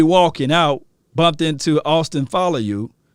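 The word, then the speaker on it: Faoliu: Now, I told them on my way walking out, bumped into Austin Follow You. And that's how you say his name. If you're a Polynesian, let me know if I'm saying it correctly.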